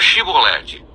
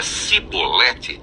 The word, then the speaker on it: Shibolete: Se respondesse que não, os homens de Gileade lhe diziam: então diga Shibolete. Se ele dizia Sibolete, não podendo pronunciar corretamente a palavra, eles o agarravam e matavam nos vales do Jordão.